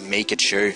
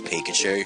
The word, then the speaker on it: Pikachu: so uh that's my starter here we have mikachu cuz I when I first saw Pokémon I thought that this was the pronunciation in said it was Pikachu and so I'm just like okay might as